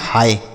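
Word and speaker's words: hi: ठीक, तो इसलिए हम यहाँ पर आई का उच्चारण छोटी की मात्रा नहीं करेंगे, एच से पढ़ेंगे हाँ, और आई का उच्चारण आय होगा, तो यह लिखा है हाय।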